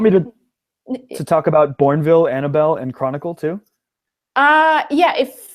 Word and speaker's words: Annabelle: Normally Bell would be B-E-L-L, but this one having an E at the end, it's just silent because it's a name.